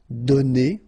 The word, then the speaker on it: donné: Okay, so the good news is that you don't pronounce it, so donner. Okay, so whether it would be without this final es or with es, you will pronounce it the same way.